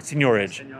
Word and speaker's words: seigniorage: That's the, maybe you're mispronouncing it, it's a French word, seigniorage.